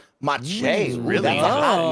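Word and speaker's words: Maciej: D Connor also kind of confirms with M Solstice that Macieej is pronounced Mache. Mache, really?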